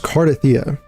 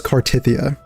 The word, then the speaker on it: Carta: Yeah, this it's definitely pronounced Carda. Why is it that Saint always says Cartia? That irks me.